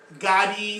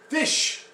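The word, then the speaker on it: ghoti: And I'm pretty sure that most people pronounce this as Gotti or Goatee, something like that. Not even close. So, you're going to be shocked when you hear what this word means. Fish.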